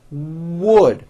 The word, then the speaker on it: wood: w at the beginning i've seen many foreign speakers just drop that w sound the word is not without a w it's wood your lips need to